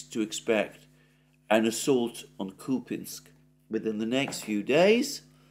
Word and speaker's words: Kupiansk: kupiansk or at least I've been calling it to pianzk up to this point I understand that the correct pronunciation for the name for the name of this drown is coping kupinsk you call pinsk well there we go the